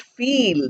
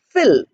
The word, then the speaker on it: fill: the word is not feel the word is fill we have two words